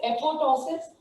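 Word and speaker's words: apoptosis: Programme cell death is known as एपोटोसिस और अनप्रोग्राम cell death is known as necrosis. यहाँ पे एक T silent है, this is known as एपोटोसिस, ठीक है।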